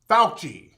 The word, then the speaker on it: Fauci: do we see anthony fucci how you pronounce his name fuchi fauci anthony fauci that's his name now this is the